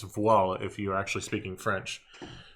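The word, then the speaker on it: Voiles: playing this is wc's walls if you're uh american it's voila if you're actually speaking french because uh we don't pronounce the s at the end of a word in french we just indicate plural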